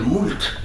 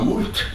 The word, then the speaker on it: moult: On entend des journalistes, des gens qui veulent un peu mousser, parler de moult, disant moult pour beaucoup. C'est une hérésie, je vous le dis tout de suite. Hein. On doit prononcer mou.